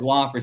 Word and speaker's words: Laughery: Is that how you pronounced it? That's how I said it. Okay, yes. Laughery.